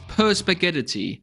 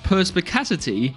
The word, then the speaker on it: Perspicacity: am almost certain that I will pronounce this perspaghettity it is in fact called perspicacity and by the way